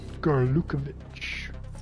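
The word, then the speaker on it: Gurlukovich: Gerlukovic. I pronounced it right.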